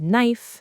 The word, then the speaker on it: knife: The first is one you see a lot, the silent K before an N at the start of a word. For example, in the word no. Yes, the K is a ghost. We don't say cano. Same thing with knife, knock, and knee.